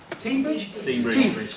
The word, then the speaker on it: Teignbridge: I've lived here for 4 years, I still don't know how to pronounce them. Teignbridge, thank you, everyone else knows.